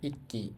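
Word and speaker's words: 읽기: তো দেখেন এখানে লেখা আছে ইক্কি। ই মানে হচ্ছে রিডিং। হ্যা। এখানে রিউলটা বাদ যাবে। আর উচ্চারণ হবে ই।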